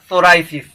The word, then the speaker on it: psoriasis: Next है सोराइसिस, P silent है, PSORIASIS, सोराइसिस ये स्किन डिजीज।